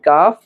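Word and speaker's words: ك: এই অক্ষরটি উচ্চারণ করতে হলে জিহ্বার গোড়ার আগের অংশটি উপরের তালুর সঙ্গে লাগাতে হবে। তাহলে এই কাফ উচ্চারণ হবে।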